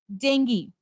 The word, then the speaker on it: dengue: mam dengu it's not dengue it's dengue dengue is of is of dengue excuse me it's a female mosquito which is responsible to spread the virus so it's not dengue it's dengue right yes i will do